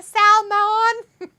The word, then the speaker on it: salmon: Salman salmon got the salmon you got the salmon don't worry the M's silent the L would